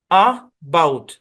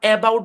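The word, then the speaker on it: about: বাউট কি উচ্চারণ বাউট প্রথমে যে এ আছে এর উচ্চারণ কি হবে অনেকেই ভাবতে পারেন এ এখানে ওপেন সিলেভেলে আছে তাহলে এর সাউন্ড মনে হয় এই এরকম হবে না এখানে এর সাউন্ড এই হবে না এখানে এর সাউন্ড হবে আ এই শোয়ার সাউন্ড হবে আ অর্থাৎ এই শব্দের উচ্চারণ হচ্ছে এবাউট আবাউট এবাউট না আমরা এবাউট বলি কিন্তু এটা অরজিনালি এবাউট না এবাউট এবাউট এবাউট এরকম আরেকটা উদাহরণ দেই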